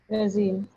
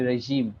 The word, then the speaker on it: regime: which we use the regim yeah it's actually regime regim reim reim reim you're still saying Z you can try it